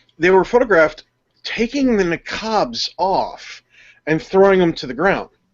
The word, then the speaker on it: niqab: It's spelled Niqabs.